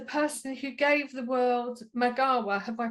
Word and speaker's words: Magawa: And did everyone know Bart is the person who gave the world Magawa? Have I pronounced that correctly?